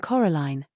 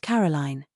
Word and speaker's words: Coraline: They got your name wrong, you know. They kept saying Coraline. Not Caroline. Not Caroline at all.